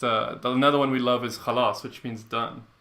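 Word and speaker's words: خلاص: Khalas, but that's hard to say because you say it with the throat. Khalas. You try it. Khalas. Yeah, see? It's not so difficult. It's difficult. She didn't say it right. It's khalas.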